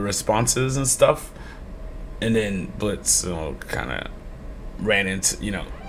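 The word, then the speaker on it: Blitzø: it right sure blitzo the O is silent now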